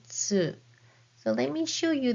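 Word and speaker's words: つ: And this is hiragana tsu, as in bats and cats. but the shape of your mouth is just like the one with hiragana u, and then say tsu.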